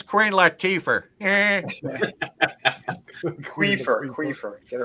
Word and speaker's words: Queen Latifah: How do you pronounce her name again? It's Queen Latifah.